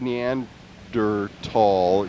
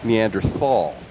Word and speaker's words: Neanderthal: uh I pronounced it Neanderthal for a long time until I read the correct pronunciation and is neander tall and the H is silent which is annoying there's so many silent